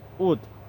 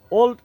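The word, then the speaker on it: would: তো এই শব্দটাকে আমরা অনেক সময় অনেকেই ওল্ড হিসেবে ব্যবহার করে থাকি বা ওল্ড উচ্চারণ করে থাকি। তো ওল্ড উচ্চারণটি সম্পূর্ণই ভুল এবং রং। তো এটির সঠিক উচ্চারণ হবে উড।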